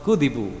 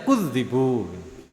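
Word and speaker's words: كُذِبُوا: Kalau Abu Ja'far, Hamzah, Kisai, Imam Asim ya termasuk kita ini bacanya kudibu itu. Qad kudibu itu. Yang lain baca kudzibu, didustakan. Ada yang kudibu, dibohongi. Nah kita ini bacanya kudibu, ya.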